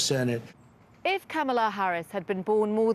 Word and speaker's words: Kamala: a politician of substance kamala it's not kamala it's not camella but she still had